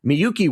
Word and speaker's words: Miyuki: I struggle with it, but Miyuki, welcome to the show.